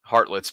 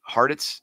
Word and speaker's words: Hartitz: Ian Hartlett's put different categories here of under yards. I think I got his name wrong. Is it Hartitz? Yeah, Ian Hartitz.